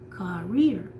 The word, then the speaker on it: career: So the first syllable is just a whisper. You emphasize the rear, career.